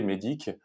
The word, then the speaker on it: MEDDIC: Et ben, MEDIC, en gros, bah, c'est un acronyme. Donc, c'est des lettres. Donc, MEDIC, ça s'écrit MEDDIC.